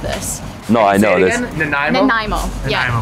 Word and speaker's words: Nanaimo: Nanaimo.